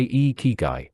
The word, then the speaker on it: ikigai: Since there are three eyes in a key, then to pronounce the word properly, you say e key guy with a smile.